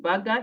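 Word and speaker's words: Birger: Swedish names but uh biger tells me to call him Burger he'll tell us why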